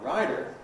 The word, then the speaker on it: writer: But American English, of course, has this business of voicing T in environments like this. So, plus of course you have an R on the end for Americans. The American pronunciations are a rider and a rider.